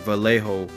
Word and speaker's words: Vallejo: Jolezo it is, and Vallejo. That's what it is, Vallejo.